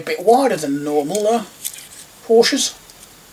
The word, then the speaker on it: Porsche: I've just realized this seems to be a bit wider than normal uh Porsches. I always forget that it's actually pronounced Porsche.